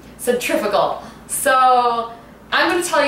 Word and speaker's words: centrifugal: pronounce it but and that's how apparently they say it in the UK and so the American way is to say centrifugal so I'm going to